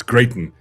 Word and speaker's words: Gayton: It's Gayton.